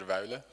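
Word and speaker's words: Wuille: Okay, so his name is pronounced Peter Weile.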